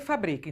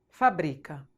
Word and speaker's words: fabrica: O exemplo que eu dei de fábrica e fabrica. Então vamos supor, fábrica, fabrica. Escreve do mesmo jeito. Ah, mas tem um acento. Não tem problema, porque eu tenho que obedecer a regra de acentuação. Mas eu não mudo nenhuma letra. Então, elas escrevem igual, mas eu pronuncio diferente.